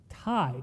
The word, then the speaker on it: Thai: When I saw his mouth move and it was th and I was like, what do you want? And he was like, I want thigh food. I was like, "What?" Like, "Thigh food." I was like, "Tai t i e is how you say it."